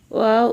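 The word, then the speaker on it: واو: ওয়াও উচ্চারণ কেমন হবে? ওয়াও দুই ঠোঁটের মাঝখানের ফাঁক থেকে আদায় হবে। নইলে বা অক্ষর আদায় হয়ে পড়া হারাম হয়ে যাবে।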